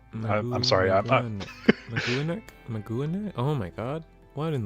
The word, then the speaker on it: Maganac: Maganac Corpse, and fun fact, it is pronounced Magwanek. I'm sorry. Maguanek?